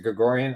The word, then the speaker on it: Gregorian: I think Vahe Gregorian, is it Gregorian? I'm not sure I pronounced it right. It is, yeah.